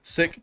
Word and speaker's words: Sikh: mean there you go pronunciation of the word seek is as follow sick pronounced as sick and six as six